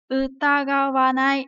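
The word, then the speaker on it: 疑わない: Và khi nào đứng một mình thì nó được đọc là utagawanai đúng không?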